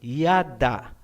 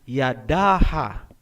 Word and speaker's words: yada: Hindi po, kasi ang A ay binibigkas kung may susunod pang syllable. Kung wala nang susunod na syllable pagkatapos ng last letter, hindi na po bibigkasin ang tunog na A. Gaya halimbawa ng salitang yada. Ang ibig sabihin niyan ay praise o pagpupuri. Hindi po binabasa na Yadaha.